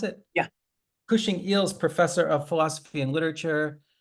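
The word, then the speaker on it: Cushing Eells: Zahi, you're Cushing Eels, is that how I pronounce it? Yeah. Cushing Eels Professor of Philosophy and Literature.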